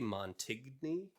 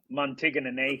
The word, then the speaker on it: Moni: from uh someone named DJ Mony I don't know if I pronounced that correctly I think you're close it's Moni oh right right right yeah